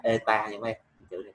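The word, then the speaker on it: η: Cái chữ hiệu suất, cái chữ N có cái ru dài này ha, thì đọc là eta nha mấy em.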